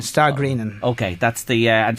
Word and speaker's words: Stagrennan: that because I'm just confused again about the pronunciation s t a g r e n n a n star greenin okay that's the uh and just put that